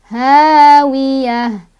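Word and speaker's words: هاوية: Hawiyah. Tak marbutoh kalau berhenti jadi ha besar ya, ha sukun.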